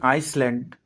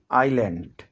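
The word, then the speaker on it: island: এটিকে অনেকেই আইসল্যান্ড উচ্চারণ করে থাকেন। এটির সঠিক উচ্চারণ হবে আইল্যান্ড।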